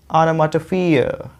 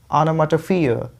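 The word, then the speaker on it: onomatopoeia: पहले वाले पे सेकेंडरी स्ट्रेस है, ये यहाँ पे रुकना नहीं है, रुकना कहाँ पे है, प पे, क्योंकि ये प्राइमरी स्ट्रेस है। देखिए मैंने हिंदी में लिखा है, तो इसको आपको ओनो नहीं बोलना है, इसको बोलना है आना, आनामाटोफियर, आनामाटोफियर, आनामाटोफियर, देख रहे हो, फिर यहाँ पे रुकना है आपको।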